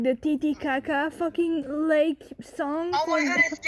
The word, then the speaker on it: Titicaca: The correct pronunciation is Lake Titicaca, but that's if we take Spanish into account.